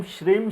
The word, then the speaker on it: श्रीं: growth हो गया अगर एस आर हा आर आई एन जी ने में जी को साइलेंट करके श्रीं बोल रहे हैं तो ओम श्री श्री